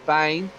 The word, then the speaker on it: Bain: points uh johnny bain i've been pronouncing it ben but he's corrected me last week it's johnny bain down at six position